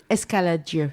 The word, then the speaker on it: Escaladieu: is the Abbey of Escaladieu. And it's also Cistercian. And they were associated. Escaladieu? Escaladieu, yeah. Can you spell that one? Escaladieu, Escalad, après Dieu. Dieu, D-I-E-U. Yeah.